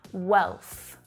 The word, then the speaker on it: wealth: Nào, đó là một từ tiếng Anh hơi khó phát âm, "WEALTH" Nó phát âm giống như là "WELL" có thêm âm /th/ vào phía sau.